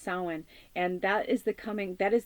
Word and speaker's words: Samhain: from now until Samhain, October 31st, which some call Day of the Dead or Halloween, but it's it looks like Samhain, but it's pronounced Samhain.